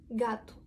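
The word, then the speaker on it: gato: Да такий вигук г Якщо у нас гея зустрічає аоу просто запам'ятайте аоу тому що так само було з сеао да г + аоу читаємо як Г це не Г а г да ту кіт ґату якщо ге у нас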